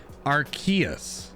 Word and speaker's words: Arceus: it is correctly pronounced in a Pokemon encyclopedia I have is Arceus.